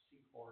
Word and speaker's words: CCOR: a large program called CCOR, C4 it's pronounced, that came principally out of the Target's lab at Delaware.